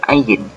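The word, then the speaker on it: עין: Nah, teman-teman sekalian, ain ini sebenarnya dari segi makharijnya atau dari segi pronunciation hurufnya ini mirip dengan bahasa Arab. Cuman di beberapa pelafasan lahjah, ain ini dalam bahasa Ibrani tidak setebal bahasa Arab.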